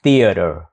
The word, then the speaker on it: theater: phim đó đọc là theater âm đầu tiên là đặt lưỡi giữa hai răng nói chữ t tiếng Việt t t t ti y ti ti ti ti ti ti tiếp theo là theater theater theater hay là